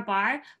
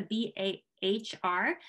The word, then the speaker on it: Bahr: And yes, and I'm Bahr, but my name with the B-A-H-R is sometimes, if you were, it comes from bear. So bear is kind of correct too, if you say Bahr, or if you really